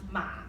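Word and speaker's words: 马: that's the tail so this is a word for horse and it's pronounced mom repeat after me Oh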